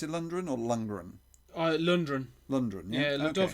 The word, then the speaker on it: Lundgren: Dolph Lundgren as He-Man, Frank Langella as Skeletor.